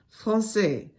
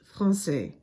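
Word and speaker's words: Français: it's called insidi and it changes the pronunciation of the C from a sound to a s sound for example Francais usually a c before an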